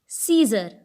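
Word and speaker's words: scissors: वहीं तीसरे एग्जाम्पल में शब्द है सीजर। सीजर में सी लिखा हुआ है, लेकिन फिर भी हम इसको सीजर पढ़ते हैं। इस शब्द में भी सी साइलेंट रखा गया है।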